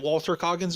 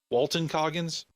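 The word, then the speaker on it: Walton Goggins: am I mad that Walter Coggins was in this Walton cogins I'm GNA say his name right eventually I've noticed I've been saying it wrong lately no I'm not mad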